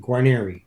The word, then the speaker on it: Guarnere: I pronounce my last name Guarnere. Now, here's the background on this. My grandfather, we have papers where my grandfather was Guarnieri, like the violin.